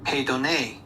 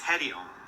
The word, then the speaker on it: Hedione: Hedione? Wait. I'm just gonna search it out. Because let's do. Hedone. Nope, that does not sound right. That's clickbait. How do I pronounce that? Right here. This is Hedione. Hedione. I did it right.